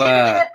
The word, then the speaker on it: Koepp: Its screenplay was written by both Michael Crichton and David Koepp, or how do you pronounce his name? David Koepp.